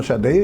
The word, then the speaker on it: Sade: Inexés, me acuerdo que decíamos Inx, por ejemplo, y Shar Day, cuando llegó Shar Day era Sade.